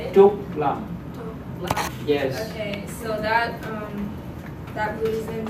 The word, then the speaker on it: Trúc Lâm: Trúc Lâm.